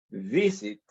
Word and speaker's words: visit: Visit, el verbo visit, su sílaba tónica es la primera sílaba, v, porque el verbo es visit. Y si escuchan con atención, al decir visit, tiene dos sílabas, visit. Pero ¿cuál suena con mayor fuerza? La primera, que es visit. Es la primera sílaba que suena con mayor fuerza, no la última.